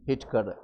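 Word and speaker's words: Whittaker: हिटक ने हिटक टकर इसमें स्पेलिंग है डब्लू आई लेकिन स्पेलिंग इसको उच्चारण करेंगे हिटक हिटक कब किया था 1600 सॉरी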